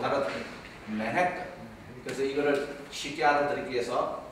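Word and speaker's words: Manhattan: 우리가 옆에 사는 맨해튼, 이렇게 해서 맨해의 액센트를 줘야지 맨하탄, 우리 한국 사람 얘기하면 맨하탄 뭐 이러면 이 사람들 못 알아들어요. 맨해튼.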